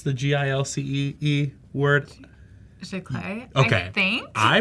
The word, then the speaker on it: Giclée: How do you pronounce the Gilcee word? Giclée, Okay. I think. I pronounce it. Before I pronounce it. Gilcée or whatever, No, I don't and think that's that's not correct.